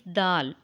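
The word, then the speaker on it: دال: sound later it is pronounced when the tip of the tongue goes towards the root of the top front two teeth so read after me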